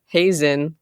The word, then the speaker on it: Heesen: yes I am but her actual last name is pronounced Sarah Hazen like raisin and this is actually